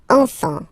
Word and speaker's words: enfant: You don't pronounce the S.